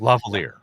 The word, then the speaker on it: Lavalier: do you pronounce it? Lavalier.